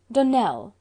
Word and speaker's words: Dunell: Dunell, accent on the last syllable, and St.